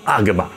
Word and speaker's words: Agama: Dilga 的意思是篇幅非常长，阿含在梵语里念作 Agama，意思是传来的神圣经典。